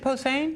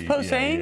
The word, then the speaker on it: Posehn: 100.9 and the Scotty Show here with Brian Posehn. How are you? How you doing? How you doing, man? Actor, comedian, Brian Posehn. Posehn. Posehn. Is it Posehn? Yeah, it is. It is Posehn?